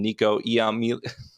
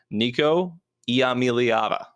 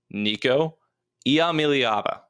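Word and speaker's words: Nico Iamaleava: quarterbacks in the nation in red shirt freshman Nico yam let's try this again Nico yava Nico yava that's how you say his name I've said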